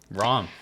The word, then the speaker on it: Ram: Uh, no, honestly, cuz generally not pronounced right. Okay. And I've been going by Rom since I was like middle school.